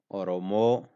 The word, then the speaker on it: Oromo: Oromo, Oromo. Which one is short? Oromo. The first O and Ra sound are short. Oromo, and the Mo is long. Oromo. So the first O and then Ro are short.